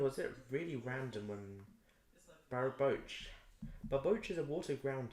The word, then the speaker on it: Barboach: I'm gonna look up how to pronounce it properly because I don't know how to pronounce it. Um, Barboach.